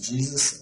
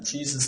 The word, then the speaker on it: Jesus: It's like it's spelled with two E's and a Z. It's Jesus. Listen to him. You'll catch it. The main thing is, as long as it's a Jesus of the Bible, that's what's important.